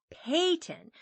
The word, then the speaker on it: phaeton: And you mustn't call it a phaeton, though it is spelt with a P," added Bab, who liked